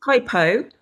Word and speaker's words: hypopressives: Hypopressives. Is that right? Was pretty good, to be honest. Okay, It's perfect. hypopressives.